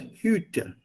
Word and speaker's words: Hütte: So the U umlaut is long, pronounced long. If you shorten it, it becomes a noun and the meaning changes to hut, jhopdi, the Hütte. So you have to pronounce it as Hütte.